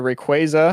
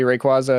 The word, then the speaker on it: Rayquaza: I have a Rayquaza, of course, that's the official pronunciation. Thank you, Pokemon Worlds. even though it will forever be Rayquaza and I will hear none none of it.